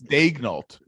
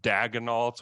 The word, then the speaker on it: Daigneault: It's Daigneault. Don't listen to the broadcast, because they call him like Mark Daigneault or Daigneault. It's Daignault.